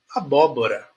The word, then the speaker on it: abóbora: sílabas abóbora quatro sílabas abóbora ela começa aqui a a ela sobe a bo a desce Bora tá Então por quê Porque ela é uma palavra proparoxítona o primeiro bo É o mais alto tá então ela